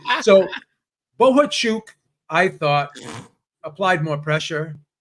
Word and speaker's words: Bohachuk: Gail on the round table said his name is Bohachuk. That's how it's pronounced. I guess he yelled at someone was interviewing him and he said, "My name is Bohachuk."